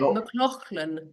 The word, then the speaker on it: McLachlan: it that was it mclan MCL that is that is an official pronunciation it's just not how I do it so I don't mind